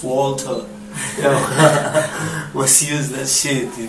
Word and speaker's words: Walter: And I don't like a lot of people pronounce my name like or Water. No, it's Walter.